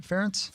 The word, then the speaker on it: Ferentz: Ferentz? Ferentz, yeah.